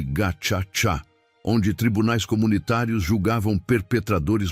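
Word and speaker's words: Gacaca: O novo governo dominado pela FPR de Kagami implementou um sistema de justiça tradicional chamado Gakaka, pronuncia-se Ga Tchá, onde tribunais comunitários julgavam perpetradores locais.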